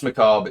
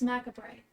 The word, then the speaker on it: Macabre: is this um dance Macabre is very mid 80s inspired I thought it was Maca bright no no oh yeah yeah I've been pronouncing it wrong it's okay so you